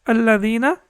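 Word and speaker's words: الَّذِينَ: how to pronounce it we will pronounce it as aladina right and we can see over here that Hamza is so we will not pronounce it as with response with respect to the Quran it will be wrong so we will say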